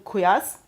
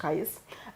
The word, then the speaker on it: Qais: For example, we know in Medina, Zayd bin Thabit, in Mecca, Abdullah bin Saib, in Basra, Amir ibn Abdul Quyas. Sorry for the pronunciation. Qais.